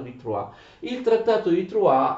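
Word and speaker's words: Troyes: attenzione si scrive troyer con la y però si legge trova d'accordo il trattato di prua il trattato di trois e umiliante e devastante per la francia cosa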